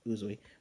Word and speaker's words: Uzui: still utterly pissed about tinging uzui that's how you say his name uzoi but he's pissed to